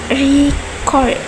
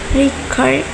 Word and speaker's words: record: When the stress is on the first syllables, record is a noun, but when the stress is the second syllable, record, it is a verb.